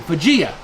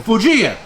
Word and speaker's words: Fujiya: and he's talking about a plier company vegea right virginia vegeta say it again vegeta fujiya that's right well the good news